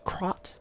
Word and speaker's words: Krat: the bastards who didn't fit in with Krat's ruling. Thinking it was I think I was saying it wrong the whole time and it's Crot, right?